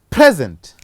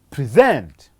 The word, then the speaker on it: present: Talk of a word like present and present. It is again a stress that had make the first word to read as a noun and the second one to read as a verb.